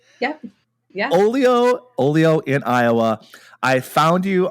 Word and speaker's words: Olio: We are here with Megan Bannister from, I'm hoping I'm pronouncing this right, Olio? Yep. Yeah. Olio in Iowa.